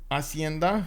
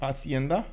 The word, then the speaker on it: hacienda: go with it um the h is silent oh wait hacienda you mean that's how i should have said that it's hacienda japan is in banana